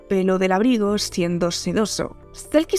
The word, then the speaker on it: selkie: Selkie se pronuncia silky en algunas regiones del Mar del Norte, que suena como sedoso en inglés.